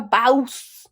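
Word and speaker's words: bawse: Our next word is bouse. bouse. And it's spelled B A W S E. That one's easy. Then what is it if it's so easy? Uh, it's uh like a bouse like a boss.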